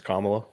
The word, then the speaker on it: Kamala: Nope, it's Kamala. It's COM.